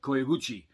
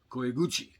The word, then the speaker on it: koiguchi: um one thing is the koichi uh i hope i pronounce that right it's koiguchi um that is the opening